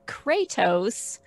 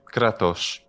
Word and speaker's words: Kratos: snuck this one in everybody says the god of war kratos but it would probably be kratos power yeah which is an